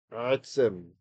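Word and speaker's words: עֶצֶם: It's a segalit, meaning it's got two segols in a row, and they usually indicate that the accent will be on that first syllable.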